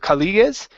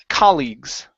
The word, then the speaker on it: colleagues: word is colleagues okay instead of colleages it's colleagues colleagues okay very good so